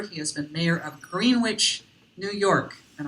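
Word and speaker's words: Greenwich: He has been mayor of Greenwitch, New York. And I know I pronounced that correctly because he told me uh Greenwish, New York, a former mayor.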